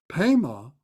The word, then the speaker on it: Pema: Pema is the pronunciation of Padma.